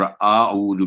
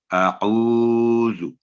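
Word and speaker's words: أعوذ: اور اعوذ بھی نہیں کہنا، یعنی کی آواز بھی لمبی نہیں کرنی، اعوذ. تو یہ ہے اس کا صحیح تلفظ.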